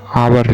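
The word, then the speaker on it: hour: पास आवर लिखता हूं एच ओ यू आर तो इसको हिंदी में उच्चारण कीजिए इंग्लिश में नहीं अगर हिंदी में उच्चारण करने पे पहला जो साउंड आएगा वोवेल आएगा तो एन का प्रयोग करेंगे तो आवर क्या आ रहा है आवर यानी पहला क्या आया वोवेल साउंड तो इसलिए यहां पे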